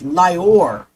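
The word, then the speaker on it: Lyor: His full name is Lor Coen. That's spelled L Y O R.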